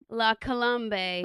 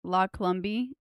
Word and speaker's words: La Colombe: La Colombe. La Colombe. Colombe. It's definitely La Colombe. I don't think you pronounce the E.